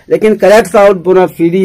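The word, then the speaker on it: bona fide: बोनाफाइड है जिन्यून, बोनाफाइड इसे करेक्ट प्रोनाउंसिएशन है बोनाफिडी, बोनाफिडी रिजल्ट, बहुत ही जो सुपर एक्सीलेंट होता है उसे जिन्यून है, उसे हम बोनाफिडी बोलते हैं। बहुत से लोग बोनाफाइड बोलते हैं, ठीक है, लेकिन करेक्ट साउंड बोनाफिडी है।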